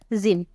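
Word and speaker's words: gym: हम वाई के एग्जांपल एक देख लेते हैं जिम कई लोग जिम भी जाते होंगे तो आपको पता होगा जिम का स्पेलिंग क्या होता है जी वाई एम होता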